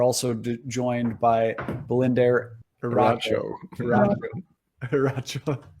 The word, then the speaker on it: Eriacho: Eriacho. So you don't say the I, Eriacho? Yeah, the I is silent.